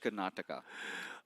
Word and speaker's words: Karnataka: and also psh Esports kataka how do you pronounce that that's so long it's psh Karnataka a state you get amazing food out there